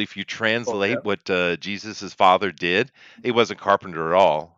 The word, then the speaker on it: Jesus: a carpenter that's right Jesus doesn't start with a G no it doesn't but it sounds like Jesus what's up with that well it's actually not being pronounced correct uh it it should be isus actually a man I'm no